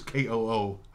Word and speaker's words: Kutcher: Kutcher's KOOCHER. Kutcher.